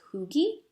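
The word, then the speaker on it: hygge: candlelight what is it it's pronounced okay so it's hyg GE but I actually think it's pronounced like cooky that comforting energy so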